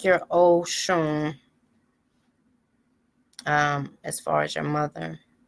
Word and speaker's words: Osun: In Yoruba, the S makes a sh sound. So that's how you can read a little bit. Have you noticed when they salute the priest and it's Abaru, Aboye, Aboshishe, that there's no H in the middle of the Aboshishe? That it's just the in the alphabet, the S makes the sh sound.